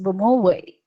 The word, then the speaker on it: Bomowi: myself i am bomoy i am also a filipino and yes my surname is pronounced bomoway and i'm a primary